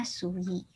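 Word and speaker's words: 水: Dibacanya Sui.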